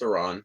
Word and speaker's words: Iran: By the way, I know it's pronounced Iran. I just up. Um, do I think Iron is about to topple?